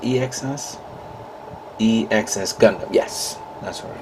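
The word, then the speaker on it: EX-S: is of course the uh gundam artifacts ex e x s gundam is it pronounced e-x-s e-x-s gundam yes that's what was right um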